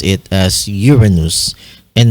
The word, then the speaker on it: Uranus: Now, one reason why Uranus exhibits a retrograde rotation on its axis, it's